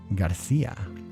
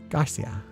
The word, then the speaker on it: Garcia: It's because Portuguese has more nasal tones while the Spanish pronunciation rolls a bit of the R. It's more pallet focused. Oh, Garcia. So, Garcia, maybe.